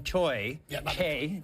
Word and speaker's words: Choi: it's it's 100% clear uh that that Madame choy is better pronunciation um had access to a lot of